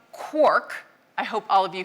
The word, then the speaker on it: quark: So in Finnegan's wake, it's clearly rhymes with Mark, but as Galman says, he needed it to rhyme with quark.